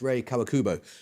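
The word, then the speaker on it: Rei Kawakubo: No, it's Ray Kawakubo.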